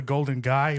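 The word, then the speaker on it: Golden Gai: mouth it's called the Golden guy but it's spelled g AI I don't know what guy it's not like the guy but it's this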